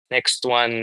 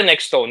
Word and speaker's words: Nextone: ang ganda naman sa totoo walang tamang pronunciation ha hindi siya pag sinabi mong next one mali or pag sinabing next stone well we prefer next stone yun yung prefer namin